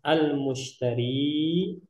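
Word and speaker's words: المشتري: Nah, jadi cara bacanya ini pakai dhammah ya. Nah, al-mushtari.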